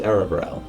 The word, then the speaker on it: Aravarel: My name is Aravarel. I love Aravarel. It's spelled A-R-A-R-V-A-R-E-L.